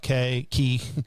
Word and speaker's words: Cay: I think it's Key is how it's pronounced. Oh, really? Yeah. Castaway Key. I thought it was K because C-A-Y. I know. I figured Key was K-E-Y. I understand. I get it. I just think it's pronounced Key.